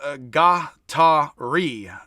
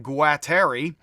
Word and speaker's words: Guattari: And then several books he wrote with, Deleuze did, with Félix Guattari, I believe, pronounced Guattari. It looks like Guattari.